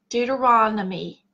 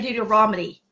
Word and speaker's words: Deuteronomy: is that right Amy Deuteronomy I say it wrong I say due to Romany and I've always said that a Romany and it drives Amy nutso and so we're gonna